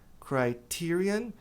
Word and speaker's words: criterion: Critério, essa palavra aqui, a pronúncia vai ser criterion. E o plural, a gente vai deletar o ON e trocar por A.